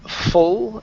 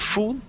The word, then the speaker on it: full: good that's pretty good let's go to the word full instead of fool oh oh full full of life full of life great